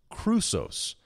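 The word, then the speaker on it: χρυσός: gold still appears it is the Greek word Crusoe's you spell that CH ru SOS but there are only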